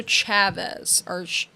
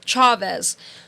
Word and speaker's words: Chavez: location is Dr Hernando Chavez Chavez yeah you're right I knew I said it wrong right away Chavez so he his testimony